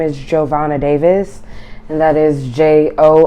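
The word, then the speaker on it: Jo'Vonna: Okay, may you please state your name and spell it for me? Okay, my name is Giovanna Davis, and that is J-O apostrophe capital V O-N-N-A D-A-V-I-S.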